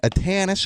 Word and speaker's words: Atanus: Susanne Atanus, am I pronouncing your last name correctly?